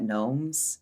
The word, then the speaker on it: Gnoems: I'm at Gnomes. It's like garden gnomes, but it's spelled different.